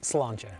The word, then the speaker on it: sláinte: Sláinte.